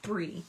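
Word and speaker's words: Bree: to double cure that it's b r e e that's exactly how you spell it Karen is spelled Bri and it's also pronounced Bri weird all right now let's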